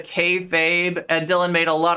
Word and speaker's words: kayfabe: So I famously said K-Fab instead of kayfabe, and Dylan made a